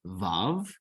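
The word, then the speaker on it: וו: The next letter we have is Vav.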